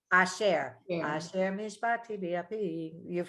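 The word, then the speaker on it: אשר: If it shortens the vowel, then it makes the whole syllable shorter. So it's asher.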